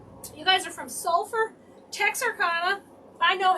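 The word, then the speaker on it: Texarkana: You guys are from sulfur Texas Arcana. I know how to say it. Tex Arcana.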